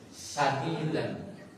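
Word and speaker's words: سَدِيدًا: Ya ayyuhalladzina amanu taqullaha wa qulu qawlan sadidan. Sadidan, bacaan yang benar. Dibacanya bukan sin dengan shin.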